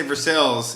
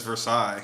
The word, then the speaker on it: Versailles: for side the yeah you asked everybody in Pittsburgh they're gonna say Versailles yeah but if you're saying like French was yeah this Versailles you say I don't know